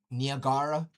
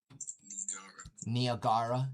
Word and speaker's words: Niagara: Oh yeah, Niagara. That's the correct pronunciation. Niagara, yeah.